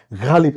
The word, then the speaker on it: গালিব: যেরকম যারা উর্দু শোনেন বা হ্যাঁ যারা হ্যাঁ, কবিতা শোনেন তারা জানেন যে আমরা বলি ওটা গালিব, কিন্তু গালিব নয়, গালিব, এরকম একটা ব্যাপার আছে আর কি।